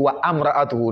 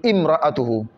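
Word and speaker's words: امرأته: Ici, on doit dire I même d'abord. On ne doit pas dire wa amra'atuhu, non seulement, on doit dire imra'atuhu.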